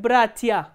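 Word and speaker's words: братья: For example, look at the word bratia. Here stress is on the first syllable, not on the ending.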